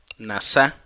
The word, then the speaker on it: nasa: Si quieres anotar esto, la palabra tentación viene del hebreo nasa, N-A-S-A, y acento en la segunda A, y significa probar o examinar algo.